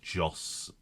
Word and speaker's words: Jos: should have said because his name rhymes with zos just stappen Vos justen